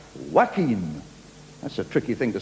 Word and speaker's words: Joaquin: We have a celebrity coming on now who spells his first name Joaquin, but he wants it pronounced Joaquin.